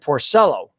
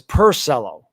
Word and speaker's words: Porcello: and um he says he doesn't say rick porcello he says pursello so he's like i say you know orcillo says whom he goes uh it's like rick porcello and jerry remy goes